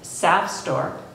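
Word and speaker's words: SAFSTOR: For us, the alleged SAF store, pronounced like sap, leaking radioactivity remains, call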